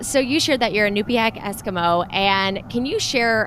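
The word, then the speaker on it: Iñupiaq: that uh let me see if I can pronounce this correctly. Anupiac Es. Yes. Okay, good. Good job. Yes. So, you shared that you're a nupak Eskimo and can you share a little bit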